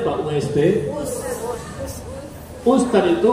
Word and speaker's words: Ustadz: pertanyaan Barakallah barakallahu fikmi Kenapa us tulisannya Ust Bacanya apa Ust Ustaz itu u t a d z Ustaz kalau